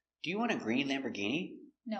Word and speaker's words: Lamborghini: Our first one is Lamborghini. Lamborghini. We see it's not or, it's Lamborgh. And the G makes a hard G sound. Lamborghini.